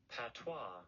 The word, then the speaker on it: patois: Patois.